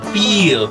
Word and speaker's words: peel: Now, first of all, mind the word peel. It's peel. There's a double E there. Peel. Peel. Not pill.